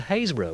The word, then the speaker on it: Happisburgh: come a cropper with the word Hayes burrow which is spelled Happisburgh radio Cumbria was quickly